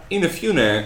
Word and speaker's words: Inafune: I won't K inaf Kai inafune close close inafune uh he he created Mega Man he loves